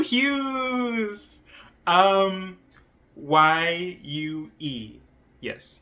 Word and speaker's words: Yue: And so the main character is Yue Hughes. Um Y U E yes Yue Hughes. And obviously it it okay it's pronounced Yue like literally.